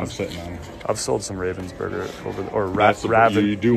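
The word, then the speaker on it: Ravensburger: man I've sold some Ravens Burger over or rather you do want to look for the if you say Robin's burger right yeah that's how you say it I've sold some and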